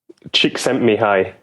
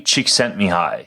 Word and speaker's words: Csikszentmihalyi: How do you pronounce this fellow's last name, Mark? Csikszentmihalyi. Mihaly Csikszentmihalyi.